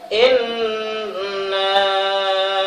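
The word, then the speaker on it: إنا: musyaddadah, contohnya inna a'tadna, in ditekan ya, jangan kita bacanya inna a'tayna kal kausar, gunnah itu adalah ditekan inna inna inna a'tadna inna a'tayna kal kausar inna ya, nun musyaddadah itu adalah gunnah.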